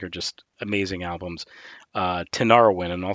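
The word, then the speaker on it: Tinariwen: that i think are just amazing albums uh tanara win and i'll spell it for you it's thank you t i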